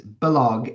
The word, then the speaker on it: Balogh: And just take the H off the back and make it two G's, Balogh, and you've got it. That's it. There you go. Except the accent comes on the first syllable.